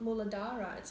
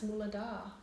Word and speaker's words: muladhara: to pronouncing their chakras it's not mullah derides muladhara confusing yeah that's okay